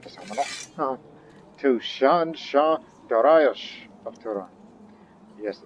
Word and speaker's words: Dariush: Now, that name, we Westerners often say Darius, but it's Darius or Dariush, with the H at the end.